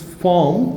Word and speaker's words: formed: Rajakar Bahini, or force, in the bracket, was formed, the British pronunciation is formed, they don't pronounce R, if they found any consonant after the R.